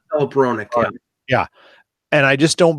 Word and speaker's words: Hronek: Hronek.